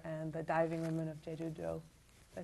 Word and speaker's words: Jeju-do: Not a Metaphor and The Diving Women of Jeju-do.